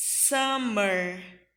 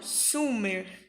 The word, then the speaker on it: summer: a primavera Spring in o verão é Tamer e não sumer tá Tamer u em inglês